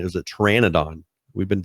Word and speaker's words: pteranodon: I went and pulled it up and was like, what's the pronunciation of the way that they spell it in Ark? And it's pteranodon.